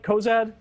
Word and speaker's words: Cozad: you am I getting your last name right Cozad spot on perfect thank you thank goodness there's